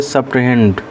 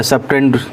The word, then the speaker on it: subtrahend: अच्छा, जिस क्वांटिटी को सब्ट्रैक्ट किया जाता है उसका नाम होता है सब्ट्रहेंड, या सब्ट्रहेंड, H साइलेंट कर सकते हैं आप, SUBTRAHEND।